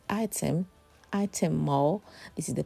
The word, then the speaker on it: Ightham: But yeah, it's just pronounced as item. Item much as the spelling looks a bit different. But when you're pronouncing, just say item.